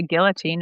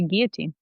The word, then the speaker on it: guillotine: you say it well in America you say guillotine and in France you'd say guillotine guillotine I'm not